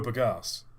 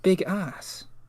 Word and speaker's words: bagasse: No, bagasse. I did a video on sugarcane burning locomotives, Mike. I know what I'm talking about. What? Okay, it sounds like you're saying big ass. Bagasse. It's how it's spelled.